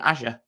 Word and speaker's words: Azure: purely to recruiting this newish thing called Azure or Azure depending on how you say it.